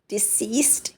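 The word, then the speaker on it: deceased: इसको प्रोनाउंस करना दोबारा से सुन लें ध्यान से। डिसीज्ड प्रोनाउंस करेंगे। टी की आवाज नहीं आएगी। आखिर में टी की आवाज आएगी।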